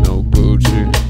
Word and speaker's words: Noguchi: had a generically made no Gucci style coffee table I looked up the pronunciation so don't correct me blame Google no Gucci it was falling apart